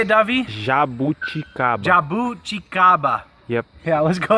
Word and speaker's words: Jabuticaba: I'm pronouncing it wrong, but it's like Jabuticaba. How do you say it, Davi? Jabuticaba.